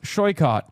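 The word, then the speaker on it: Saikat: Tell them that my name is pronounced Shoycott and they should learn that they can ask me.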